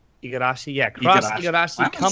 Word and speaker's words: Igarashi: Cross Iragashi. Igarashi, yeah, cross Why Igarashi am I coming saying on that?